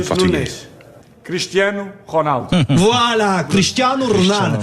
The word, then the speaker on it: Ronaldo: Voilà, Cristiano Ronaldo. Ne prononcez pas le Ronaldo comme vous faites, Sébastien, habituellement. Là.